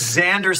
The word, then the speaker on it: Xander: It's kind of circular because Xander sounds like it starts with a Z.